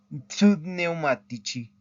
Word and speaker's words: pneumatici: Acuérdense que estas P sí se pronuncian. En español no diríamos ¿verdad? No diríamos psychology, diríamos psicólogos, ¿verdad? Psicólogos. Pero en italiano sí se tienen que pronunciar estas P del principio de la palabra.